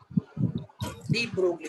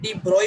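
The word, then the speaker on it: de Broglie: Calculate डी ब्रोगली। कई बार ना डी ब्रोगली को लोग डी ब्रॉय भी कहते हैं, कोई दिक्कत नहीं। हाँ यस सर, डी ब्रॉय। हाँ डी ब्रॉय तो भी करेक्ट है, बट स्पेलिंग पे जाते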